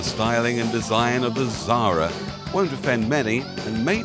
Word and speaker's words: Xsara: hatchback, the Xsara, spelt X-S-A-R-A. That's how it's spelt, but you say it Xsara.